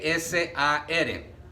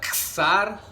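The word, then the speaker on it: שַׂר: se escribe primero con con t sar t s a r Qué significa a veces se pronuncia sar sar con t con k con s con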